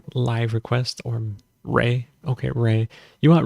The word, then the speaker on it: REI: request or Ray okay ray you want Ray it's spelled REI Ray um um watch Ray